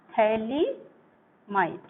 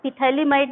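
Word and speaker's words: phthalimide: इसको बोलते हैं हम थैलिमाइड। पीएच साइलेंट होता है इसमें, जब हम इसका नाम लेते हैं बोलते हैं तो पीएच साइलेंट होता है। पिथैलिमाइड नहीं पढ़ेंगे, थैलिमाइड पढ़ेंगे, है?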